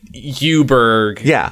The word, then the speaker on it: Eweburg: the Inn okay uh the u tree but U is spelled ewe like the town mhm it's a female sheep Griffin no I I'm now realizing what Yuber is cuz I had